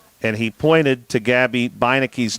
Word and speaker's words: Bicki: he pointed to Gabby Bicki's name and he said that name is said Bicki and I said well thank you I would not have imagined to pronounce it that way and he said